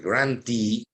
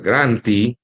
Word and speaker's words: grantee: Cuando la terminación es doble E, que en inglés se pronuncia I, ese es el que recibe. Entonces, en el caso de grantor, el grantee, por ejemplo, grantor se